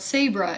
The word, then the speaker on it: Sabre: and I say it again, they're less likely to remember that is if I go, it's like Porsche but Sabra.